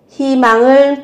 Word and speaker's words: 희망: 희망을 포기하지 마요. 희망을 포기하지 마요. Đừng từ bỏ hy vọng. 희망 có nghĩa là hy vọng. Khi viết là hơi nhưng các bạn phát âm là hi.